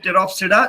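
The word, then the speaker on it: Pteropsida: Again इसमें P silent है, इसको आप प्रोनाउंस करोगे टेरोप्सिडा।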